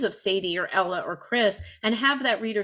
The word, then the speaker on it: Krys: Well, I think his pronunciation name is Chris, Krys. Yes, Chris is fine.